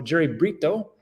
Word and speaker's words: Brito: So Jerry Brito, that's how you say his name, he is